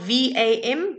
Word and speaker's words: vam: the seed sound for you is vam remember it's spelled v-a-m but it's pronounced vam okay so sending you